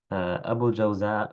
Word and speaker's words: أبو الجوزاء: أبو الجوزاء بفتح الجيم وبالزاي، اسمه أوس بن عبد الله، وكيل أوس بن خالد.